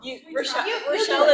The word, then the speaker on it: Rachelle: Rachelle is right.